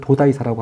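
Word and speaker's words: 東大寺: 바로 이제 나라에 있는도 여기 한자로 쓰면 동대사고 이걸 일본식 발음으로 읽으면 도다이사라고 합니다.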